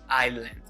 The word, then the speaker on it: island: sound and md so you pronounce it as island with the s totally silent now the second one